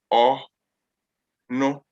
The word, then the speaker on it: ono: So O, no. So ono is a pronoun, which means he or she. No. Yes, very good. That's how you pronounce it.